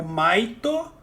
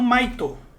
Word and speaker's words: Maito: É só como eles pronunciam Might em inglês. Em japonês eles pronunciam Maito, que é a mesma coisa. E aí o nome do Maito Gai, na verdade, é Might Gai. Entendeu? São palavras homófonas.